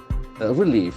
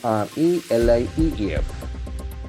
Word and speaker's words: relief: See, that is a very interesting spelling, R-E-L-I-E-F. Relief. The accent falls to the second syllable.